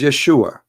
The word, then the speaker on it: Yeshua: The correct word in the Hebrew is Yeshua.